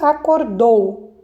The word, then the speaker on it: acordou: Então, a primeira palavra aqui, acordou. Acordou, a sílaba tônica está na última sílaba, o dou.